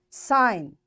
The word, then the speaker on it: sign: Sign. G is silent.